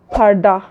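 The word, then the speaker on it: perde: एथ वन इज़ पर्दा. उर्दू में पर्दा, इन तुर्किश पर्दे. इसका प्रोनाउंसिएशन का डिफरेंस है, पर्दा पर्दे. Ninth one इज़ नज़ार.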